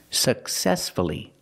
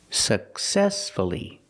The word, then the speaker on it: successfully: successfully for many years successfully successfully the stress is on the second syllable so we pronounce the U uh successfully let's practice did he